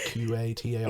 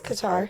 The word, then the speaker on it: Qatar: I'm saying it right it's like Qatar no it's Qatar I've read it but